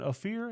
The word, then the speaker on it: Ophir: I said, how was it pronounced, Ryan? Ophir? And he said, yep, that's it.